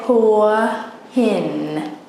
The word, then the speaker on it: Hua Hin: We say Hua Hin. Right. Have you heard of Hua Hin before? Or? Yeah, I've heard that, but I can understand that perfectly. So can you pronounce that again? Hua Hin, is that correct? Yep. Hua Hin, Hua Hin, Hua Hin, Hua Hin, Hua Hin. Hua Hin. So everyone listening, it is Hua Hin, not Hua Hin.